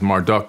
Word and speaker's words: Marduk: flood Alan raah AKA Marduk he's known as Marduk in the Bible m a r d UK